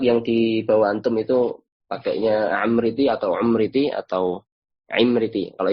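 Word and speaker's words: العمريطي: Ada yang bacanya Amriti, ada yang Amriti, bahkan ada yang Umriti juga. Dibaca ada fathah, ada yang membaca kasroh, ada yang membaca dhammah. Ini yang benar yang mana? Ini ada perbedaan pendapat. Ini ada menurut Imam Az-Zirikli dalam sebuah kitab ya, pelafalan yang benar itu adalah Amriti pakai fathah.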